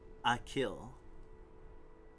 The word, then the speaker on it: Achill: It's part of the County Mayo, one of the 5 counties in the province of Connacht, pronounced Achill. Achill, okay.